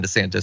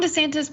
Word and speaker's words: DeSantis: I think that Trump would be more dangerous than a Ron DeSantis.